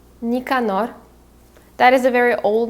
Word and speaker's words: Nicanor: is alexandrovic another character we have is basoy nicanor so his last name would be basoi bassoy and his first name is nicanor nicanor that is a very old name i don't